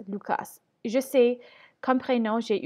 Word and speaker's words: Lucas: C'est écrit L-U, mais ça se prononce L-O-U, Lou. Et normalement, on devrait prononcer le S dans Cas, Lucas.